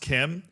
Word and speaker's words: Quim: It's pronounced Kim. It's short for Joaquim.